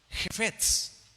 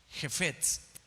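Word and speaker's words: חפץ: Anota por favor, la palabra deleite en el hebreo, Jefetz, y significa, con K al principio, con K, es K-J-E-F-E-T-S, Jefetz, con acento en la E, pero va al principio la K.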